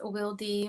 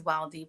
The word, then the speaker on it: Wildy: Some people pronounce it as Wildy, but I am Dominican American, and my name is pronounced in Spanish.